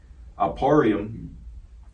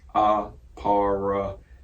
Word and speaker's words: Ahparyam: Ahparyam in the Paleo Hebrew, Strong's H669, and here you go, this is how you spell it, Ahparyam.